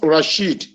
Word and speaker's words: Rashid: There is no Abdul in Rashid. The name is pronounced Rashid.